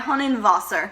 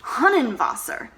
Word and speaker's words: Hundertwasser: Friedensreich Hundertwasser. Hundertwasser? Like a hunting advisor? No, not a hunting advisor. An Austrian artist. Hundertwasser.